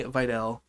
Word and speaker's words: Vidal: Is it Vidal or Okay, I've been hearing the comment comment commentators, excuse me, saying Videl.